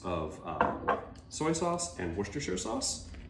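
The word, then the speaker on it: Worcestershire: um soy sauce and woristershure sauce. And yes, that is how you say it. I'm from originally the Worcester area, so it's not something that's weird to me to say.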